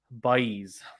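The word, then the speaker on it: Báez: oh here you go red devil says i think it's pronounced by ease okay i will pronounce it that by ease uh snail says yes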